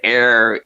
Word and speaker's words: Arecibo: And Geekicidal tendencies in this comment cleared up my horrible pronunciation. He said Arecibo Observatory.